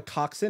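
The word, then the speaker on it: coxswain: boat is the person they're called the coxen and it's spelled Cox Swain it's also connected to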